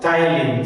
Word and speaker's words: ptyalin: Saliva contains an enzyme which is called ptyalin. So that you should remember. It's written here. Salivary gland secretes saliva which contains ptyalin. P is silent. Ptyalin.